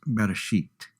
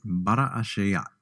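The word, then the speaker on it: בראשית: we would pronounce it bara a shot the word is essentially slowed down and each letter given a chance to sound off almost as if you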